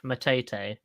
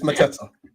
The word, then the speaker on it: Mateta: So it's Jean Philip Matete. Matete. That makes him sound posh. Matete. Matete, right? It's Mateta. It's Mateta. Mateta. All right, that's our little cockney. Right? Mateta, right?